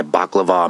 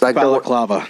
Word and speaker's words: balaclava: I showed up and put my baklava mask on and got out of my work van with Axel and Riley. Baklava mask. Balaclava. Yeah, that's it. I said it wrong.